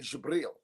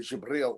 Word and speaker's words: Jibril: It's actually Jibril is how you say Gabriel in Arabic. So it's actually Jibril, like the I think the New York Giants former linebacker Jabril Peppers is what they would call him on TV.